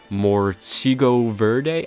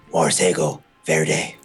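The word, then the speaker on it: Morcego Verde: to say it um it's Moro Verde I don't know that's what the Brazilians call him no no it's Moro fair day oh thank you for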